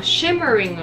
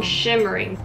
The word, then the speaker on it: shimmering: Shimmering のここのところ Shining Shimmering これが Shimmering ってなシマリンってなってたから Rin っていう音になったからこの Shimmering